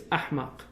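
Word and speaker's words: أحمق: The Malays can't pronounce the H in Arabic. So they say for the stupid in Malay is, in Arabic it's ahmaq. The Malays said amak.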